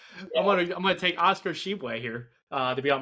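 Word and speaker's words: Tshiebwe: mentioned with my team and his name is pronounced Oscar Sheway. So, if you want to pronounce that again, you can give it another Oscar Sheway. I'm gonna I'm gonna take Oscar Sheway here uh to be on my team as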